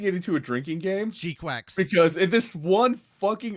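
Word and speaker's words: GQuuuuuuX: And now this one is saying it's pronounced G-Quacks.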